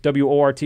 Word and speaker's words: Wort: type in The Wort, W-O-R-T. It's pronounced Wort, but we're going to keep saying Wort because people type in Wort and don't get us.